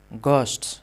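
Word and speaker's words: ghosts: इसे देय देय पढ़ेंगे और इसमें घ साइलेंट होता है। तो इसे घोस्ट नहीं पढ़ेंगे। घस्ट घस्ट्स पढ़ेंगे। ठीक है?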